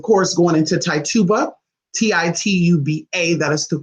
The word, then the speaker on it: Tituba: be to to blue it could be Tituba a to be Tituba however you say that how are your tongue is but it's not choo-choo BIA it's not tied to BIA it's not to bucho you know let's get it